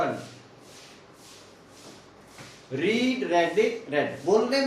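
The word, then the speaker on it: read: की क्या होती है रीड रीड रेड रेड रीड की तीनों फॉर्मेट बोलने में अलग है वैसे लिखने में तीनों फर्मेट रीड रेड आरई एडी एक रेड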